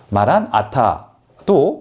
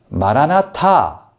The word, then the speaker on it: 마라나타: 하니까 주님께서 오셨다라고 말하는 그 마란아타도 사실은 그럴 수 있겠다, 틀린 건 아니겠다라는 생각은 들지만 성경을 두루 읽어보면 전자보다는 후자가, 그러니까 마란아타보다는 재림의 소망을 담은 마라나타, 주여, 우리 주여 오시옵소서라고 읽는 것이 훨씬 더 타당해 보입니다.